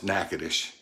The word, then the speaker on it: Natchitoches: to spell it right it's spelled just like it sounds knacketish you don't know how